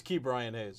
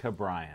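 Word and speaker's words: Ke'Bryan Hayes: was saying his first name wrong it's it's key brian hayes that's how you're pronouncing he was calling it brian yeah see that's white if he didn't pronounce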